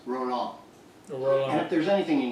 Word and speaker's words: Roland: Yes, and it's actually pronounced liaison, and my name is actually pronounced Roland.